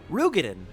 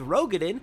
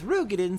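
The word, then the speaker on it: Roegadyn: the I have learned recently it is canonically pronounced rugen n Rogen and the L is or at least the reminder is if it was rogin it would be Moon Brea but it's rugan so it's Moon Brea the rugen lady with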